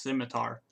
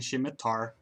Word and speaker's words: scimitar: anyone pronounced in English for longest time scimitar was one of those as well like I was like shocked to learn it was pronounced scimitar because I've been saying she Matar or Schmidt are like